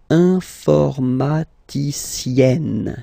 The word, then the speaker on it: informaticienne: And you get the sound informaticienne, sienne. Remember E and then double N, or then it could be double L or double consonant here. You open your E, so it's E. Informaticienne.